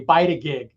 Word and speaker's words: Bytagig: And I think I was one of the few that was able to pronounce it correctly, Bytagig.